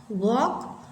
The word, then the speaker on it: walk: टॉक, वॉक, चॉक, तो L हैज़ no sounds.